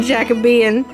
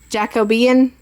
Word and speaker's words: Jacobean: I used to call it Jacobean, and I was informed it was different, so I called it Jacobian, but I was still pronouncing it wrong. Found out it's Jacobean, I think.